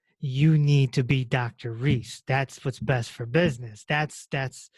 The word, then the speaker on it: Reese: Reese. And then eventually, when I said I'm going to do a podcast, I said, well, it rhymes with peace.